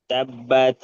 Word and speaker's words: حطب: আর তব তব, ওটা তা হবে না, মানে তা উচ্চারণ হচ্ছে, তব উচ্চারণ হবে।